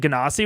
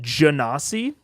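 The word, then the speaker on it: Genasi: um yeah yeah uh I've never heard anyone pronounce it ganasi with a hard G I've only heard it pronounced jasi I've heard it pronounced both I think janosi makes sense it's like Genie uh but janosi sounds dumb to me I have no I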